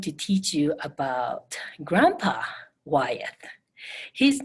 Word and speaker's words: Wyeth: Okay, it's spelled W-Y-E-T-H, Wyeth. Okay. Now, today I'm going to teach you about Grandpa Wyeth.